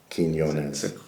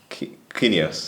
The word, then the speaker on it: Quinones: So phonetically it'd be Keen, K-E-N, Yo, Y-O-N-E-Z, Quinones. Quinones.